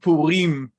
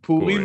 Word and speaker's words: Purim: First of all, I should pronounce it Purim because that's the biblical pronunciation, though everybody would pronounce it Purim in Israel, right?